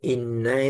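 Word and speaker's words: إنّا: auzubillahiminasyairjim Bismillahirrahmanirrahim Bismillahirrahmanirrahim ini Inna itu tasjid jadi bacanya ditahan Inna In gitu karena tasjid dia Nun dan mim bertajjid itu dibaca Gun ditahan in gitu inna anzalnahu fi lailatil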